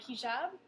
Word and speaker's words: hijab: And we're going to discuss the hijab, the headscarf. Is that how you pronounce it? Yes, you did a good job.